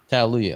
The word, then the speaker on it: Tallelujah: Tallelujah. Kind of like hallelujah except with Tallelujah.